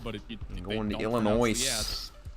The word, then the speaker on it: Illinois: Uh, you must love Illinois, too, cuz it got the S on the end. But if you Illinois Illinois my